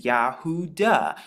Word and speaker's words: Yahudah: And Judah in Hebrew means Yahudah, because it actually contains the name of our Father.